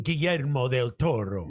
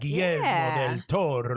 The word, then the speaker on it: Guillermo del Toro: for everyone that can't pronounce his name. You could say his name. Guillermo del Toro. There you go. Like that, Guillermo del Toro.